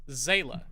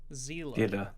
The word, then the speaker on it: Seele: I mean, the Evangelion wiki article lists the pronunciation as Zayla. What? Let's see what German Google translates as as. Zayla. Oh. Seele. Sense, I guess. Zila.